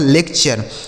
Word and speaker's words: lecture: आगे देखिए LECTURE, तो LEC देखिए, LE से ले हो गया, C से क, और TURE का उच्चारण हो गया चर, यह लिखा गया आपका लेक्चर।